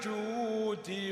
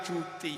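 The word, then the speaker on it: الجود: “Ya Rasulallah, salamun alaik, ya nifatajiratal alami, ya uhailal judi wal karomi.” “Al-judi,” artinya dermawan, gunakan bunyi ‘d’, “ Ya uhilal judi wal karomi.” Beberapa orang menggunakan " Ya uhailal juti."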